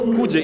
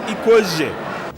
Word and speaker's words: Ikweje: It is not Kuje, it is Ikweje.